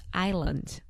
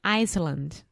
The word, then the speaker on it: island: the silent letter or what is the mistake that people make Iceland yes yeah so easily I don't know yeah so the word Island Ilya is i-s-l-a-n-d so there is an